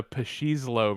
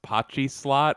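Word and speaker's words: pachislot: a pashinko and a pashizlo machine and i've never heard anyone pronounce pachi slot as pashizlo but it's pretty funny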